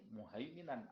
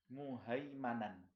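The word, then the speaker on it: مهيمنا: Ada juga yang membacanya bukan muhaiminan, tapi muhaimanan. Muhaimanan alaihi. Kalau muhaimanan berarti Al-Qur'annya ini dijamin terpelihara. Muhaimin itu pemelihara. Tapi kalau muhaiman yang dipelihara. Ada yang membacanya muhaimanan alaihi, berarti kembalinya kepada Al-Qur'an itu sendiri.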